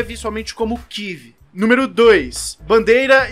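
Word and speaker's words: Kyiv: mencionar aqui é que a pronúncia para falantes de português é tive e não Kiev que a forma como os russos falam então em respeito ao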